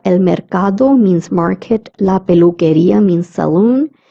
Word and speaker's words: peluquería: La peluquería means salon. QUE is pronounced as K, as I told you earlier.